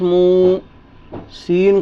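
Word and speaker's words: موسى: मिलेगा मीम वाव पेश म सीन खड़ा जबर सा मूसा क्या लिखा मिलेगा मूसा तो ये देखें यहां ये जो य लिखा है ना ये साइलेंट तो फिर क्या पढ़ने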